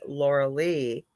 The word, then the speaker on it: Lorilei: from German mythology and it's said Laura Lee but it is spelled like Lorelei and the lorelei's were